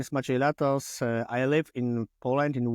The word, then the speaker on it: Maciej Latos: Maciej Latos. Welcome, Dr. Latos. Hi. Great pronunciation, my name.